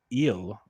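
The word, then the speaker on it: Gil: time this year um luis eel the g is silent it sounded like on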